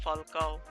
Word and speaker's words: Falcao: time of deadline day who would have thought pronounced falcao damn it's uh getting intense these uh these